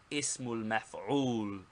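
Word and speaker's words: اسم المفعول: Second, the noun of object or passive participle, pronounced ismul maf'ul. Ismul maf'ul.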